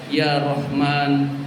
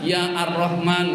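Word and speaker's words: يا رحمن: Hadirin sekalian, jadi jangan kita baca ya ar-Rahman. Nah, itu salah secara bahasa Arab. Jadi, ya Rahman, alif lamnya dihilangkan ya Rahim.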